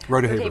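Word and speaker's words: Rodeheaver: Rodehaver.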